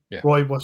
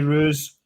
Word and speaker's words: Rooibos: I could have tried that 18 times and never got Rooibos from it. There would have been many roos. I was going full roo.